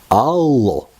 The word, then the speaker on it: алло: It's quite recognizable for English-speaking people because it is originated from English language and it's just hello, but pronounced in some Russian way, that is allo, allo.